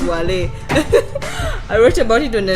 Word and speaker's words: Wallay: 100 different pronunciation yeah I wrote about Wally on website called cinema because that's my that's my pronunciation is Wally I wrote about it